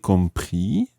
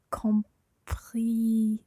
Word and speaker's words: comprise: Therefore, we don't say l'assurance est compris, but L'assurance est comprise. très bien. L'assurance est comprise. Okay, so the E goes on to the end of the word compris, and that makes you sound the S.